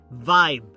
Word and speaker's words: vibe: En la sección de pronunciación hoy os traigo the word vibe, ambiente, como mood. It clearly shows 2 sounds English speakers clearly separate. V, fijaos como me muerdo el labio, V, bite your lower lip and let the air vibrate.